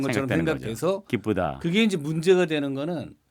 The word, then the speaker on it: 기쁘다: 기쁘다. 그렇죠. 우로 발음하신 겁니다. 예. 슬프다. 네, 슬프다. 이렇게 우로 발음하시는 거고요. 아하. 뭐 물론 이제 아주 이상하게 뭐 기쁘다 이렇게 발음할 필요는 없겠지만 네네. 발음하시다 보면 자연스럽게 우에 더 가깝게 발음을 하고요.